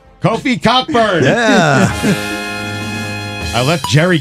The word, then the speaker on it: Kofi: Coffee Cockburn. Kofi. Hate when that happens. Oh, it is Kofi.